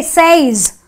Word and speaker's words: says: said the e sound another exception says I have an ay but I don't say says she says I say she says so it is the SE so the S the